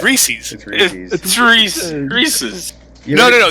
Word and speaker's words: Reese's: to be rude but it's spelled like wreath anyways Reese's Reese's it's REE es